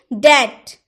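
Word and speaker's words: debt: डैप्ट नहीं, डैप्ट नहीं होता है, डैप्ट नहीं बोल सकते, क्या बोलेंगे, डैट, डैट, डैप्ट नहीं, डैट यानी कि रिन।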